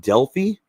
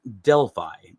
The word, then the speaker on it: Delphi: everyone's entitled to their opinion, but you said Delelfi and I'm here to tell you that that is not the correct pronunciation of Deli. It's actually pronounced Deli.